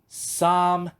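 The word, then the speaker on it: 三: Alors, pour prononcer le Sam, prenez le mot Sam, comme dans Samuel. Puis vous dites Sam.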